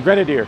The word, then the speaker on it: Grenadier: here with greg and this is the ineos grenadier am i pronouncing that correctly a grenadier okay we've all seen these things and i